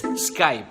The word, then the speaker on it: Skype: have to stress that P Pyrrha oh it's Skype scribe it winds eye twitch oh just split